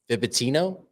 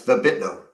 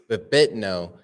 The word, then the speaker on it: Vibitno: Vibitino? It's Vibitno. Vibitno.